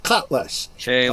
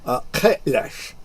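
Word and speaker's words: Kahless: He was dealing with the fact that the second coming of Kalash had occurred. Well, you pronounce it human. I pronounce it Klingon. I see. Kalash.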